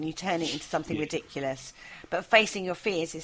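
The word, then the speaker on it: Riddikulus: Oh, it's so ridiculous, right? It's laughable. And it's pronounced ridiculous. yeah, it's the Latin ridiculous, isn't it?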